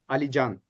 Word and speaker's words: Alican: I looked at your surname, but I to get the umlaus, but I didn't real I forgot that Turkish has a soft C.